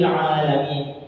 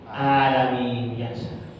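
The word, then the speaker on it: العالمين: Kemudian ain, ya, ini yang sering terlupakan, ya. Yang kadang terlupakan tapi kita tidak menyadari. Ketika melafalkan Alhamdulillahi Rabbil Alamin, terkadang karena terlalu cepat atau karena ingin cepat selesai sehingga alaminnya menjadi alamin biasa. Ainnya sudah hilang.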